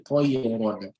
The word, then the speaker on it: طَيْرًا: So when the Ra is having a fathatain here, you say Tayran. So your Ra will be pronounced heavily with a heavy mouth and with a round mouth, right? And so we call it closed mouth pronunciation or a round mouth pronunciation.